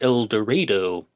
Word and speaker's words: El Dorado: Although, as I've heard on other YouTube channels, there it's pronounced El Dredo.